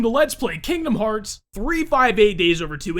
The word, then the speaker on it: 358/2 Days: let's play Kingdom Hearts 358 days over two and yes that is actually the official pronunciation of the title of this game I guarantee you guys I will mess up and say it wrong and completely different every once in a while I usually say something along the lines of 358 over two days so if that happens